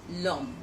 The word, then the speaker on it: l'homme: For example, l'homme, which is le homme becomes l'homme.